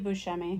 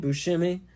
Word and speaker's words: Buscemi: his name is Steve Buscemi Buscemi and Steve Buscemi in it shimmy no you're saying shimmy like shimmy it's shemi shimmy okay yeah you